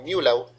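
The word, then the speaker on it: μ-law: GSM, ULAW, se pronuncia como MULAW, ALAW, G729, estos son codecs de video, que lo vamos a ver un poquito más adelante.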